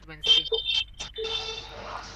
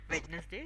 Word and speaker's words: Wednesday: The actual pronunciation is Wednesday. Okay. Now of course if you want to sound fluent that's what if you don't want to sound fluent then you can just say Wednesday Vness day.